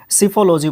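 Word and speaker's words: psephology: सिफोलॉजी बोलते हैं इसको। एस के पहले जब पी आता है तो पी को नहीं बोलते हैं, एस से हम स्टार्ट करते हैं, बट स्पेलिंग में पी जरूर होता है।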